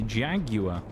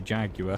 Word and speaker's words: Jaguar: Chilling grind in the Jaguar or Jaguar, depending on where you're from in the world, of course. I would say Jaguar because I'm pronouncing it correctly from Britain.